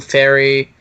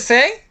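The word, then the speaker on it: Fe: Inquisition, Dragon Age 2, Fairy, which is spelled F-E. Oh, Faye. Is it Faye? It's Faye. It's Faye. I thought it was Fairy.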